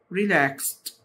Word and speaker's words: relaxed: طبعا E silent والD بتنطق T، relaxed.